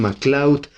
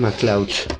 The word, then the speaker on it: MacLeod: Kevin MacLeod, or Kevin MacLeod. I think the pronunciation is MacLeod.